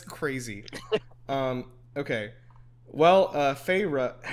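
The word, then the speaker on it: Feyre: um okay well uh farra it's literally just that huh okay so I thought it was like phah I was thinking of like OverWatch Farah yeah um that's that's how it's pronounced uh yeah um okay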